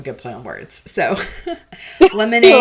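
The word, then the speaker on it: Lemon8: lemon with like the fruit and then the number 8, so lemonade.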